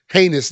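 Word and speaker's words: Ginés: Uh we went to the Churro and Porus uh shop with or heinus they call it G I N E S but they it's pronounced heinous.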